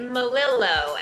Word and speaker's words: Melillo: You say it Melillo, and you spell it M-E-L-I-L-L-O. Melillo.